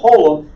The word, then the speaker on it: holem: But that little dot is called a holem, and we pronounce it long O, O as in roll.